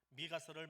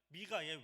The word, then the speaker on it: 미가: 이 18절 말씀의 제일 첫 번째 문장을 히브리어로 읽으면 미엘 카모카라고 합니다. 미엘 카모카를 조금 빨리 발음하면 미엘 카모카, 미가가 됩니다. 미가의 이름 뜻이 주와 같은 신이 어디 있습니까? 라는 말입니다. 18절 제일 첫 문장을 축약으로 만들어 놓은 것이 줄임말이 미가예요. 미엘 카모카를 줄인 게 미가예요.